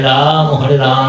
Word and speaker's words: রাম: এই রামটা কিন্তু স্বরান্ত, তার মানে রামের পরে ময়ের সাথে স্বর অ উচ্চারণ।